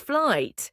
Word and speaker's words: flight: The gh is silent.